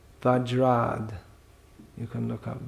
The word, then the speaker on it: Vajrad: Uttara Rama Charita, if you want to say all the Sanskrit syllables. Vajrad, you can look up Vajrad api koturani kusamapi komalam.